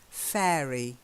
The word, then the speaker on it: fairy: the next one it's sand fairy like air the air that we breathe fairy try it much better